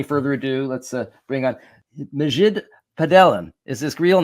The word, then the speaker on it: Majid: So without any further ado, let's bring on Majid Padelan is his real name. Okay. But I got it wrong, didn't I? Yeah. Sorry, I can tell by looking at the face. It's Majid.